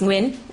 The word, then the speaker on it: Nguyen: Tom h a o last name is Win n g u y e n Dr Win good morning let me